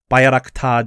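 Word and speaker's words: Bayraktar: ground attack aircraft and the now famous tb2 bayarakta drones so i learned to pronounce it correctly pound russian air defense systems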